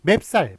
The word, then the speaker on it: 맵쌀: 맵쌀, 매 플러스 쌀입니다. 매는 산의 고유어죠.